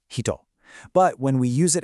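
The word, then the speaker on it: 人: By itself, it means person and it's pronounced hito.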